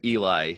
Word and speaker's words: Eli: And we pronounce it Eli.